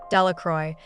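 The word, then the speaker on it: Delacroix: Jones and Dicky delacroy the villagers pronounced this name delacroy eventually made a great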